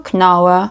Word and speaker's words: Knauer: 그래서는 이제 독일어를 이제 원본이 독일어기 때문에 크나우어라고 이제 독일어로는 발음하고 영어로는 K를 묵음으로 해서 Knauer라고도 하는데요. 저는 그냥 Knauer라고 하도록 하겠습니다.